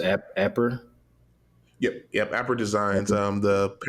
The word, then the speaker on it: Apperr: So, is it pronounced Apper?